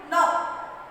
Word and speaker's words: know: No. No. No. I know. I have done my exams well. I know. I did my exams well. So, no. No. Here again, K is silent, children.